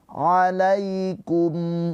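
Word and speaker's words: عَلَيْكُمْ: Alaikum, ya sukun sebelumnya harokatnya fathah, ini adalah harfulin, dibacanya dengan lembut ke huruf ya.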